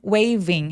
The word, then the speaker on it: waving: when I saw a woman waving waving 할 때 v는 바람 소리가 미리 조금 느껴지면 좋아요. 강세는 오지 않기 때문에 너무 부각되지 않아도 됩니다.